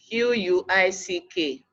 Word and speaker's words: quick: pronounce correctly you have example of the world qu IC k pronounced as quick even though when you look at it you don't have the letter of w or in the pronunciation it's then the Y sound is dead quick likewise quiet I'm Queen quite